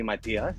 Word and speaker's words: Mathias: e yeah okay so technically it would be Matias yeah but but Maas however I'm used to